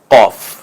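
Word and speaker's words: قاف: হরফের ভিন্ন নাম হবে কফ একটু জিহ্বার গোড়ার অংশের দিক থেকে কফ একটু গম্ভীর আওয়াজে যেমন কাক ডাকে সেভাবেই কফ কয়েকবার বলতে পারেন আপনি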